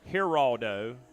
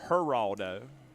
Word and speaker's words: Giraldo: This is Giraldo, not Geraldo. Spelled two different ways, but pronounced in similar fashions.